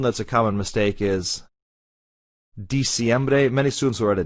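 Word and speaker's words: diciembre: hear octubre just because it's english in its pronunciation but it's not ok the last one that's a common mistake is di siembre many students will write a d and they're dec like in english december but it's not as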